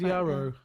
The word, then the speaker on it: Yarrow: It's always Yarrow. Yeah, it's well, it rhymes with marrow, I suppose, doesn't it?